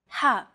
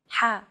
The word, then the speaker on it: ح: Ha. This sound is pronounced very deep in the throat. You want to make an H sound, but with the throat constricted a little. Ha.